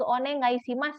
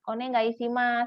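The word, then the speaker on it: お願いします: bacanya yoroshiku yoroshiku onegaishimasu itu Oneng Oneng lebih ke onegaisimas ya onegaisimas jadi kayak ngambang gitu loh Oneng Aisi Mas kayak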